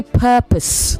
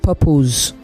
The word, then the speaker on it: purpose: you that already so you say purpose you don't say purpose the vowel there is not strong it's weak you say